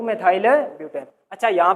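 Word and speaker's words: methyl: वैसे है क्या ये, इसका उच्चारण मिथाइल ही होता है। इसका उच्चारण क्या होता है? मिथाइल ही है ना।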